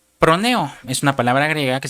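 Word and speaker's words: φρονέω: Usted lo puede buscar G2426 que se pronuncia proneo. Es una palabra griega que se pronuncia proneo.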